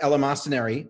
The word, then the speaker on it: eleemosynary: um so I know your play eleemosynary did I say that right yeah well yeah there are several accepted pronunciations that's one okay let's see okay good